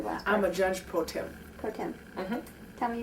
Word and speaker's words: pro tem: a judge pro tem.